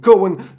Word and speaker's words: Coën: with the coincidental deck you might be wondering did he just pronounce coincidental just completely wrong no i didn't because this deck is going to revolve around using cohen the new one of the new witcher cards in this latest expansion